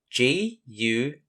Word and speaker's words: guide: For spelling, start with the G-U and follow it up with the I-D-E, remembering the bossy E makes the I say its name. So, G-U-I-D-E spells guide.